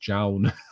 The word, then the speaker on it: John: John says people always have a problem pronouncing my name. It's pronounced Jown.